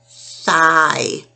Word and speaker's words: thigh: I-G-H says I, thigh.